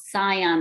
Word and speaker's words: Cian: It's called Cian, I think it's how it's pronounced, CIAN.